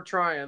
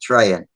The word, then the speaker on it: Tryon: So Well, if you prefer Tryon, that's what I'm going to call you. Okay, and I'll start pronouncing it correctly too, because I've been saying Trayan.